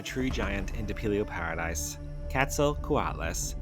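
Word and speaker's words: Quetzalcoatlus: Ketzel Kuatlas, pronounced Ketzal Kuatlas, named after the Aztec feather serpent god Kettzel Kuatal.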